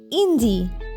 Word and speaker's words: hindi: Je parle anglais without the pronunciation of S, anglais, hindi, H silent, et français.